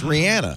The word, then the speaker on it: Rihanna: read something that said people mispronounce her name it's Rihanna oh really well you